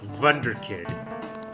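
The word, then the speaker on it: Wunderkind: Incidentally, the W in that word is pronounced more like V, I think. So it would be something like Wunderkid. At least I believe that's how it is.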